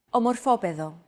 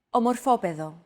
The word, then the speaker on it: Ομορφόπεδο: However, the accent mark had to be moved over to a different syllable in order to comply with our accentuation golden rule.